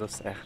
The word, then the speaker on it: Auxerre: I keep on pronouncing Auxerre, although I think it's correctly pronounced as Auxerre.